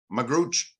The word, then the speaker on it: Magrutsche: your last name is m-a-g-r-u-t-s-c-h-e how did you pronounce that magrooch and I would just say forget my last